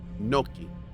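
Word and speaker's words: gnocchi: noi well do you pronounce g n o c c i as noi is your English maybe cuz you're thinking of it like Gucci maybe maybe that's why Noki okay so why is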